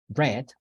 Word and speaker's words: read: terms of pronunciation uh read only changes in terms of the spelling read r-e-a-d red r-e-a-d it changes in terms of sorry it doesn't change in terms of spelling but it changes in terms of pronunciation read red read red